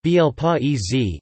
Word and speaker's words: Bel Paese: Bel Paese, Italian pronunciation, Bel Paese, Ise, is a semi-soft Italian cheese.